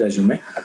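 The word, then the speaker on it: résumé: tell uh don't say it is a resume okay so resume is a wrong pronunciation it is resume so talk about your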